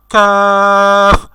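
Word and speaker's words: ق: তো একটু এভাবে কফ না, আমাদের বলতে হবে কফ, কফ, কফ। তো এইভাবে উচ্চারণ করলে সঠিকভাবে উচ্চারণ হবে।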